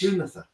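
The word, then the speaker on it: Lúnasa: Do you know how to pronounce it, like in Irish? Lunasa. Is okay. And it's spelled pretty much phonetically, Lunsaa.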